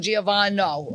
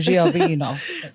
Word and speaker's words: Giovino: Giovino.